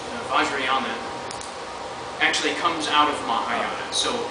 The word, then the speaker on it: Mahayana: So you said you practice how do you pronounce it? Mahayana. Mahayana Yeah.